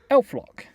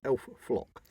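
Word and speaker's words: elflock: Elf-lock. Is it elf-lock or elf-flock? Elf-lock. With an L.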